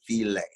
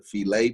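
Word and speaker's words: filé: section it says gumbo filet um or some people may pronounce the gumbo file because it's spelled f-i-l-e but it's a spanish terminology so it's actually the gumbo filet but it comes from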